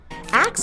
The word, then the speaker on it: ask: ] axe was considered the correct pronunciation ever heard of a